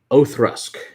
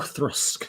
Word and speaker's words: Oak Cross: Okay, so apparently it's pronounced Oathrusk. All right, thank you, Don. Appreciate I was way off. Oathrusk.